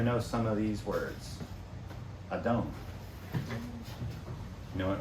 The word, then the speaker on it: Adon: Adon.